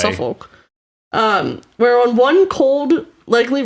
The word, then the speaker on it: Suffolk: It's definitely not pronounced that way. It's Suffolk.